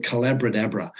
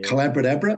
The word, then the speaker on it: Collabradabra: But if people want to learn more about the approach, my book is called Collabradabra. It rhymes with abracadabra. Hey. Collabradabra, which is the magic of collaborative conversations.